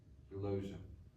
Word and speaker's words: Eulogia: Eulogia, rhymes with closure.